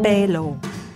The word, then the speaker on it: pélo: and brilliant fatal laser hair removal pronounced bellow bellow moving on it's fast